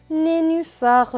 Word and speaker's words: nénuphar: et cusset et donc n est né n et u nu b&h feu avec le à cela donne feu et a faim suivie du r cela donne phare donc ce monde va se lire né nu fard ni nu far nénuphars le nénuphar les mots suivants une